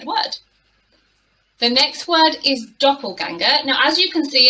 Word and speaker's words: doppelganger: it but we have the umlauts but it's pronounced doppelganger and a doppelganger is somebody who looks exactly